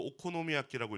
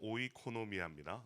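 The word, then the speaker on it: οἰκονομία: 제가 이것을 읽으면서 처음에 자꾸 오코노미아끼라고 읽어 가지고이 뭐야이 왜 오코노미끼라는 일본 말이 여기 있는 거야 막 이랬던 기억이 있습니다. 청년회 때. 근데 여러분 오노미아끼가 아니고 오이코노미아입니다. 네.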